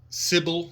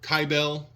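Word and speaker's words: Cybele: We will talk about the cult of Mithras, Sybil or Kybel, however you prefer to pronounce that, and even the castration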